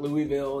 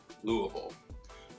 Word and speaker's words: Louisville: been putting out videos all about our city pronounce louisville get it right it's not louisville it's not louisville we say louisville we're putting out new videos each week if